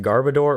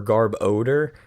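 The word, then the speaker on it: Garbodor: is he evolves into it's either pronounced garbador or garb odor which makes sense because odor like stinky and it's the trash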